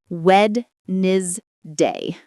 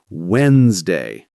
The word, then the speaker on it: Wednesday: I say wed day. But it's Wednesday.